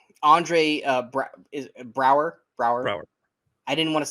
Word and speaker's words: Braugher: Brower.